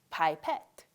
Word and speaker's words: pipette: just for this video so think about your favorite pie in a pet pipette spices i have a